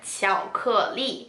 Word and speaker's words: 巧克力: So so in Mandarin Chinese, we call chocolate 巧克力. So this is a word in Mandarin Chinese that's borrowed from English. That's why the pronunciations sound really similar.